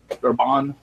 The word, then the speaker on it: Darbonne: give you crap, but is that spelled Darbonne? It is spelled Darbonne. Yes. Yeah, that's Darbonne. And the only reason I remember that is because in the chat she said you actually pronounced it right.